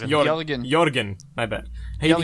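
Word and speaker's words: Jørgen: it's It's more like pronounced Jorgen.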